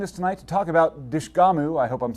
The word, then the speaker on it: Dishgamu: So I want to start off by saying that you're almost there with it's Dishgamu. Dishgamu, okay. It's it's a U on the end, and it's pronounced Okay.